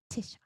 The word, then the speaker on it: Tisha: I say Trisha. It's Tisha, right? Did I say it right?